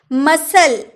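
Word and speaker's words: muscle: मसल, मसल, सी का उच्चारण नहीं हुआ है, मांसपेशी।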